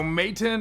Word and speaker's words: Matein: so let's get started okay so mateon i think is how you pronounce it sent over their sci